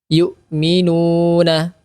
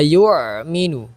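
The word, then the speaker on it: يؤمنون: zina alladzina seperti itu yukminuna dua harakat juga hati-hati ini bukan Ain ya bukan alladzina yuminu tetapi yuk Minu yukinu bukan Ain tetapi a biasa yu yu nah seperti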